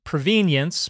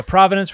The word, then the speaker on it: provenance: about the word provenance which some people pronounce provenience but uh I prefer to pronounce it uh provenance we're going to talk